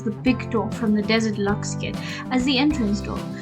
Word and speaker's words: Desert Luxe: And I know I've been saying it wrong in the last video, but I know it's the Desert Luxe kit, not the Deluxe kit.